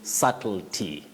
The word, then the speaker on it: subtlety: tricky word in fact letter B is not pronounced at all you say subtlety subtle Ty.